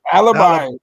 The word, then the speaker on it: Alibi: He gave us the correct pronunciation. Alibi. Alibi. Alibi.